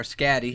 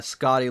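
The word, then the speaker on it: Skadi: Kalev, and then Scotty down here or Scatty, however you Yeah, want to yeah. pronounce it. I think it's supposed to be pronounced like Scotty, like the Like the gi- Norse.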